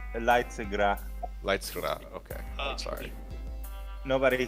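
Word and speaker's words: Leidsegracht: Amsterdam Opera at Leidengrast opens. Is that how you pronounce that? Leidengrast? I think it's Leidsegra.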